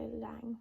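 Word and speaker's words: Laing: I'm also reading The Garden Gates Time by Olivia Lang. Olivia Lang, I think. It said it's spelled L A I N G um about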